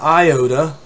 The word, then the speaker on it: iota: pronunciation it's an iota much like the proper e sound in english uh the upsilon you